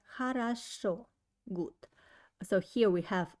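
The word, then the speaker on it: хорошо: answer will be like hara show good so here we have a three o but only the last one i pronounce like o and first to o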